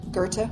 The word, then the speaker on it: Goethe: I had to look up how to pronounce that. Goethe, would you have thought?